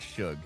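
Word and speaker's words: Shou: Tyler Show, It's like S-H-O-U. it's pronounced like Shug.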